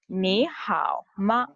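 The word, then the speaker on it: 你好吗: Ni hao ma.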